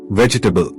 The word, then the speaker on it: vegetable: Vegetable. The middle E is not clearly spoken. It sounds like vegetable.